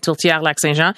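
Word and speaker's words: Tourtière Lac-Saint-Jean: I've been told I should look for something like, I believe you pronounce it, Tortillère Lac Saint Jean. Yeah, that's right, Tortillère Lac Saint Jean.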